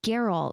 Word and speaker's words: Geralt: gonna call it Daryl it's Geralt with a hard G cheeseburgers and muscle cars